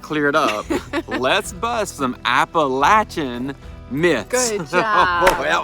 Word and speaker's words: Appalachia: It's Appalachia, like throw an apple at you or the Appalachin pronunciation appalachin at throw an apple at your chin.